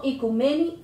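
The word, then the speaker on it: οἰκουμένη: Del griego, la palabra oikomene, aunque se pronuncia en griego moderno, ikumeni, tierra habitada.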